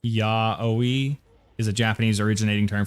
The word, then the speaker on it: yaoi: Yao, pronounced yaoi, is a Japanese originating term for manga where two men have sex.